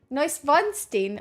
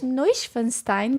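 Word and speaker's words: Neuschwanstein: In case you guys don't remember, remember how I used to pronounce this word? No vonstein or if Nessa Funstein or whatever, but it's No Funstein Castle.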